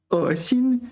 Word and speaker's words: 恶心: 邪恶的恶 is fourth tone. 恶心 is third tone. 恶心恶心 is third tone. And 厌恶 is just a completely different syllable altogether.